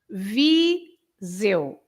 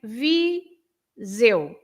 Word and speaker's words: Viseu: And the EU, at the end, the EU is exactly as I think it was Antonio who said it's the same. Yes, the same as saying I in Portuguese, eu. So the EU is always the sound eu. Okay. Eu. So you say Viseu.